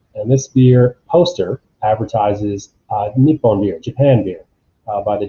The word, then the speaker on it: Nippon: top left new dir nippon being the original pronunciation the native pronunciation of japan and we see other